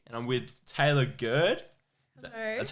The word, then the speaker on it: Gurd: your host and i'm with taylor gerd sorry that's how you pronounce it yeah yeah yeah you either get good or guard but it's good it's good yeah yeah i was nearly gonna